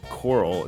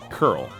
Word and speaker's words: Coral: So coral, it's curl.